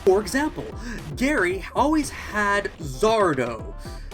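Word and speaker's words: Sardo: For example, Gary always had Zardo. No mister, accent on the dough.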